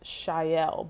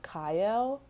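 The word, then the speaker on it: Chayil: Um, and it's shyel, but I think biblically it's like I think it's pronounced kyel. Uh, but it's spelled c h a y i l.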